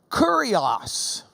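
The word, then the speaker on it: κύριος: The Greek language already had this word kurios, or kurios if you don't pronounce it like you're from Lubbock. Kurios. Kurios.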